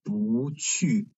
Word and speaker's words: 不去: But this one, we pronounce that as 不去, because this 不 is followed by another fourth tone syllable, so its tone changing to second tone.